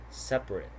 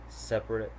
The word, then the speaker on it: separate: immediately after a stressed syllable is frequently not pronounced. So here we have average, different, separate, comfortable, interesting, vegetable. Okay, do you notice the silent vowel? I'm gonna repeat them again: average, different, separate, comfortable, interesting, vegetable.